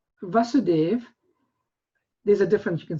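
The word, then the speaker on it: Vāsudeva: are the sons of vasudeva vasudeva there's a difference you can see but the it's the diacritic mark is on the a so it's a long a vasudeva against vasudeva so krsna's father's name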